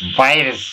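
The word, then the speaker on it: Wirtz: মিনিটের সময় হরুদ করি বীরস বাইরেস নাম বলো বাইরস ডব্লিউ আই আর টি জেড এ হচ্ছে উচ্চারণ এই ব্যাটা গুলা একটা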